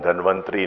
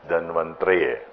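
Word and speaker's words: धन्वन्तरये: It is not Taraye, but it's Traye. Traye. Traye. So maybe it's easier for you, but sometime for a lot of people, they pronounce it wrongly, or then they shorten it, Om Dhanvantri Namaha.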